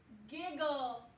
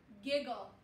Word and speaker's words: giggle: ending the word is giggle to giggle remember these g's only make one sound and that e is silent giggle awesome up next what